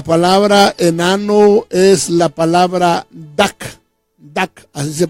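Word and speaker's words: דק: palabra enano la palabra enano es la palabra tac tac así se pronuncia y esta palabra tiene muchos significados verdad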